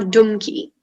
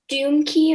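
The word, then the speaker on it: dumky: happy and sad passages or donkey or dimkey can you say this one more time doomkey or demkey doomkey or donkey yeah that sounds right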